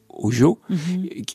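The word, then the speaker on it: hózhǫ́: mot ojo alors ça c'est écrit h o Z h on le prononce ojo qu'est-ce que ce mot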